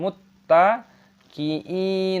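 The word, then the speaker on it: مُتَّقِينَ: Muttaqiina fiiha 'alal aroofi Yang 'mut' ada 'tasydid', tekan, masukkan, 'idghamkan', muttaqi.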